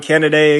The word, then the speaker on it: Kennedy: And I just found out that I was actually pronouncing his name wrong. I guess it's Kennedy, but I think candidate sounds way better. So, we just going to go with that. But the AI, they autocorrected me. I'm like, why do they keep saying candidate is his name? But I guess I was mispronouncing his name the whole time.